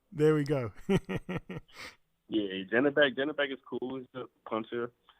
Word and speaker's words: Zhanibek: I think I'm saying his name wrong, but the Kazakh. Oh, Zhanibek Han? There we go. Yeah, Zhanibek is cool.